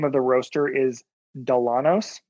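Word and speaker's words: Dillanos: is is the name of the roaster is delanos it's spelled d-i-l-l-a-n-o-s they are fantastic they make an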